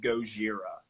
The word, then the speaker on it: Gojira: The name of the song is Stranded, and it's by a French band called Gojira. Like Godzilla.